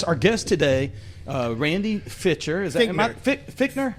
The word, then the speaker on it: Fichtner: guest today uh Randy fiter is that fitner that's actually fitner it's very I've never say how say it again be like your feet Fe e t Feer okay Feer Jason's